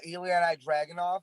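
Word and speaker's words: Ilja Dragunov: united kingdom championship uh eliana dragon off is that how you say it yeah he'll take the title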